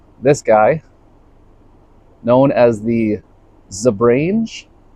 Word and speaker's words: Zebrange: guy known as the Zebrange, Zebrange, Zebrange. I've actually heard it pronounced all three of those ways. I'm going to call it the Zebrange.